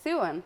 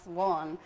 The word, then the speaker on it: Suan: saying this earlier but it is Su and not Swan even though it's spelled s u a n but you're